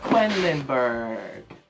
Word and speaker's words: Quedlinburg: It's Quacks of Quedlinburg.